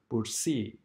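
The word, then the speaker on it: bursae: or O and E, only the second vowel is pronounced. For example, in the word bursi, as you see, the word is end by A and E, but in pronunciation, we only pronounce the E and not the A.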